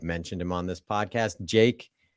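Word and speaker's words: JVKE: The artist on TikTok, we've mentioned him on this podcast, Jake, but it's spelled with a V because the V makes an A sound now, I guess.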